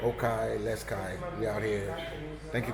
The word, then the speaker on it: Les Cayes: Oh, they call it Okai. Okay, Les Cayes.